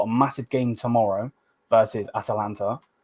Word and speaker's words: Atalanta: They've got a massive game tomorrow versus Atalanta. I actually said it right this time, not Atlanta.